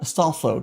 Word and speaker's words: Astolfo: I'm mispronouncing your name. Let me just go to let me just freaking how was it like this? Astolfo. Astolfo. Thank you, Google.